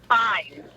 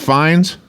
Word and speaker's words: Fiennes: Okay, so his name is pronounced Fines?